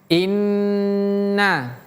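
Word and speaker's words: إنّ: Jadi tahannya agak lama tuh seperti ini. Inna jadi jangan cepat-cepat pindah.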